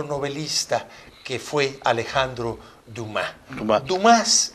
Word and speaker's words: Dumas: Dumas, aunque lo pronuncian los franceses Dumas.